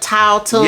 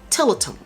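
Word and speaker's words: Tiletum: calling it Tautum. Yes, we have. Some people said Tillatum. Yes. And he called it Tillatum.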